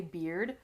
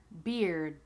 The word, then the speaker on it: beard: Okay, I am cutting off the D here of beard because I don't really say beard.